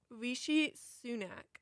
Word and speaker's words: Rishi Sunak: and I don't want to pronounce it wrong. I believe it's Rishi Sunak. Rishi Sunak.